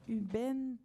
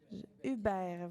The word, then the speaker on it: Hubert: j'ai demandé à Monsieur Paul Huben c'est ça Hubert voilà j'avais mal prononcé votre nom désolé à Madame berger